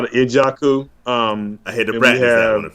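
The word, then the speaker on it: Njoku: You talk about Njaku, David Njaku for Cleveland. Yeah, No, Ijaku.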